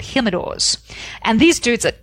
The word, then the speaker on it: Jimador: There's a tequila brand called Jimador. There is. Which is spelled with a J for those of you who don't speak Spanish. Yeah, it's Jim. You can call him Jim for short. Jimador.